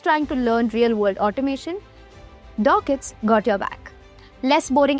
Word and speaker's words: Docket: Number three, we have Dorset. Say hello to Dorset. It's pronounced Docket, by the way.